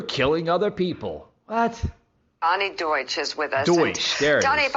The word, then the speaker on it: Deutsch: Donnie Duchesse, if I'm pronouncing that right.